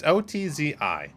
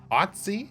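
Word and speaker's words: Ötzi: botch this name i'm not sure how to pronounce it it's otzi otzi otzi the iceman and he is an item since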